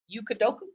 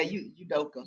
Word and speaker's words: Udoka: It's hard to say his name. Yukadoka? Yeah, Udoka. Udoka? Yes.